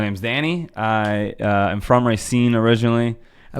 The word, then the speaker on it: Racine: I love how it's Racine. I've always called it Racine. Yeah, so. every time I say that, people around here give me crap. But if it's from Racine, then it's the right way to say it.